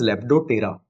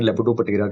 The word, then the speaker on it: Lepidoptera: Tera is not the right way to pronounce it, but I'm writing like this, saying like this so that you can remember it better. It is actually called as Lepidoptera. But P word silent होता है, तो हम लोग pronunciation में Lepidoptera कहते हैं उसको.